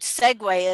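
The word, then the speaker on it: segue: it's like the word it's like the word segway is s-e-g-u-e segway is that how you spell it yep oh i would have spelt it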